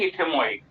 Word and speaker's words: ethmoid: अब ये स्फिनॉइड एक और रहेगी इथेमॉइड। ये भी रहेगी।